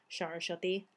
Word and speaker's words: Saraswati: The way the Bengali people pronounce it is Saraswati. I'm Bengali, so that's how we pronounce it.